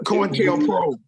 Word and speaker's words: COINTELPRO: COINTELPRO.